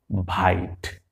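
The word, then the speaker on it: bite: একইভাবে ব, আই, ট, ভাইট।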